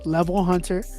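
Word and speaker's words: LVL Hunter: So if y'all want to check it out, it's spelled LVL and then the word Hunter, HUNTER. That is the artist name, Level Hunter.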